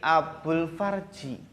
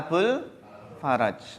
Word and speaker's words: Abul Faraj: faraj Abdul siapa faraj biasanya ada yang salah membaca jadi Abdul farji Hai ada coy langsung ketika dengan salah itu ada yang ketawa itu bacanya Abu Farizi yang benar adalah Abul faraj hati-hati ya hati-hati soal